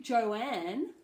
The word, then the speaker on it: Joanne: a joke for once but Joanne has an old sound in it and some people Joanne will call themselves to joy so o has a diphthong Joe and and